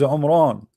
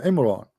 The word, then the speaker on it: Imran: His name is Umran. Umran, Abdul, or Imran, depending how you pronounce it in English.